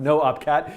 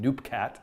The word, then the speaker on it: Noopkat: And yes, it's pronounced noopkat, even though for the last many years I've just been saying noopkat.